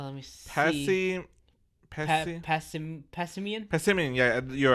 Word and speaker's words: Passimian: Passimian, yeah, you're right, Passimian.